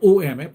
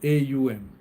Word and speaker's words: Om: Lord Shiva I'm not omf people say om it's not om it's not om oh AUM that's the correct pronunciation the correct writing of